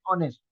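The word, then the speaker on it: honest: दूसरा उसके बाद वर्ड है ऑनेस्ट। जहां भी एच साइलेंट होगा, जहां भी एच साइलेंट होगा वहां आर्टिकल एन का इस्तेमाल होगा।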